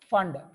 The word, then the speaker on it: Pfund: And then Fund. So here P pronounced as silent, PFUND pronounced as Fund series.